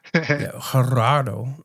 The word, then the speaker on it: Gerardo: Man, I can't roll my tongue that You got to roll your R's. Gerardo.